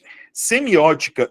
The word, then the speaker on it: semiótica: Sem, mi, ó, ti, ca, pu, bli, co. Sílaba tônica, qual é? Opa, antepenúltima.